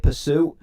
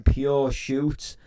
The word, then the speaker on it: Pursue: read his name wrong his name's actually dj pursue and um i called him uh about three four years ago on the stream i called him pure shoots and i'm thinking oh